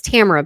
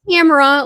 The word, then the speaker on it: Tamara: Oh and it's Tamara by the way. It's like a long version of Tammy but just not a big deal but you know people pronounce different ways.